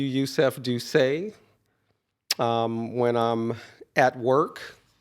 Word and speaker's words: Doucet: exactly gotcha um Yusuf how do you say your last name do say do say yes do say French right right family from